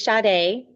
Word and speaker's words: Sha'Da: Um, and it's is Shade, but it's often pronounced many different ways, but um, I'm excited to be here.